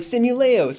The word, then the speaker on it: Simuleos: But Simuleos is kind of weird because it's like simulation plus Leos. In my head, it's like Simuleos.